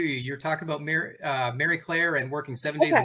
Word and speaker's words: Marie Claire: Claire so and Greg I appreciate you pronouncing It the French way Mary Claire as it is intended but we Americans um bastardize the word down to Marie Claire but so I started